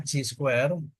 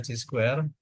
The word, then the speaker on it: chi-square: Maka variabel random ini bacanya G square, dibaca G square, yaitu X1 kuadrat ditambah